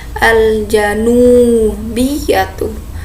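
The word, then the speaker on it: الجنوبية: Timur juga asyarqiyatu, tidak ada yang huruf yang panjang, kecuali selatan sama utara dia al-janubiyatu. Nunnya agak panjang karena ada waw sukunnya.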